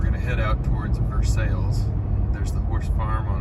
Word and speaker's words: Versailles: at uh Versailles Road it's spelled Versailles pronounced Versailles in Kentucky um sales Road and